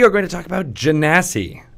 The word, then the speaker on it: Genasi: going to talk about Jen a sea and where that race comes from you pronounced it correctly I did okay you what wait so it's derived from Jeannie yep are you that